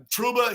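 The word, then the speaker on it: Trouba: on Ron Dane what a shout out yeah truba he sucked there you go that is the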